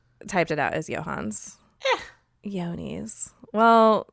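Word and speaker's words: Johne's: I might have to burst your bubble though, because I just Googled it and it says it's pronounced Yonis.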